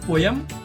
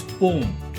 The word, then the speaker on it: poem: It's not poem, it's poem. It's not poem, it's poem.